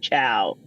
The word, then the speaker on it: Chiao: year in Italy and Patty's last name is pronounced ciao that's amazing that is